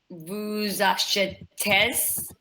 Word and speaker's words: achetez: Vous achetez. You don't pronounce the Z.